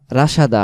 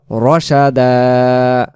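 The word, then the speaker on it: رَشَدًا: হয় রহমাতাইলানা মিন আমরিনা রশাদা রাসাদা হবে না রশাদা ওয়াহাইলানামিন আমরিনা তারপরে রশাদা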